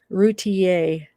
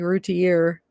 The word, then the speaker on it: Routier: those online it's crazy routier oh i have been saying it wrong i've been saying like root to year but i know i